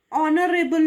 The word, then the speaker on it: honorable: example words like and honorable man see the H is silent here and we go by the sound of the o or for that matter